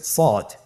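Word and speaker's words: صاد: শুরুতে আমরা শুরু করছি সদ। সদ হরফটি পুর হরফ। মোটা হরফ উচ্চারণ ক্ষেত্রে মোটা করে পড়তে হবে এবং উচ্চারণ করার সময় তিন আলিফ টেনে পড়তে হবে।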